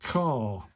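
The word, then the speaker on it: か: Pronounced like car but but without the R sound. So it's ca ca ca in it.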